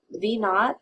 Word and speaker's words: V naught: looking for and that is measured in feet V naught this V with a little zero part of the variable itself again we pronounce it V naught point naught e that